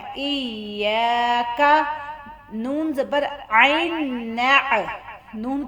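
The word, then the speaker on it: إياك: یہاں پہ یا کے ساتھ الف ہے اور کوئی بھی حروف کے آگے الف آ جائے تو ہم نے اس کو تھوڑا سا لمبا کرنا ہے اور یا کو نرم لہجے سے پڑھنا ہے. الف زیر یا ای. یا. کاف زبر کا، کاف کو پتلا پڑھنا ہے.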